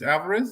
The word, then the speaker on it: Alvarez: the highlights and yeah Alvarez is it's Alvarez that's how you pronounce it yeah yeah cracker crack